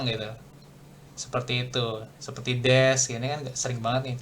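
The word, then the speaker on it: です: Nah, su gitu ketemu di akhir kalimat itu dibacanya S aja. Jadi U-nya tuh hilang gitu. Seperti itu, seperti des ini kan sering banget nih kalau des.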